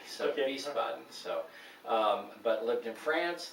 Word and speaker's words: Wiesbaden: Yeah, it's with a W actually, but Whoa, you call it a V, so okay. Wiesbaden.